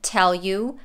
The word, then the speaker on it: tell you: Then we have tell you. U is pronounced fast, you. And the L from tell links to the U. Tell you, tell you.